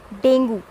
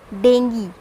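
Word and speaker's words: dengue: प्रणाम उस करते हैं अकॉर्डिंग टू स्पेलिंग हम जाते हैं वी कॉलेज डेंगू और डेंगू व दुश्मन और हाउ इट इज इट इज डेंगी ठीक है इसे हम रन आउट करते हैं एडवर्ड देंगी इस नोट डेंगू और डू इट देंगी ओके खुश हैं नेक्स्ट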